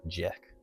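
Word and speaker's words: Jec: I I spell things phonetically and I have it spelled as J E C. So Jeek.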